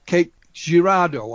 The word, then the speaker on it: Cape Girardeau: was talking initially about your book on uh cake girardo have i pronounced it correctly that's right and uh mr